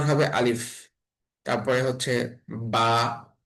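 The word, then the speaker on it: ب: তারপরে হচ্ছে বা, বা, বা এর উচ্চারণ 2 ঠোঁট থেকে উচ্চারণ হবে।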